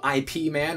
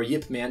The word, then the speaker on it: Ip Man: that Donnie Yen from Ip Man or Yip Man depending on your pronunciation 1 2 3 and